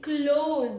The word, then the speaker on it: close: Example is please close the door. Please close the door. Then second pronunciation is close. Writes as doors.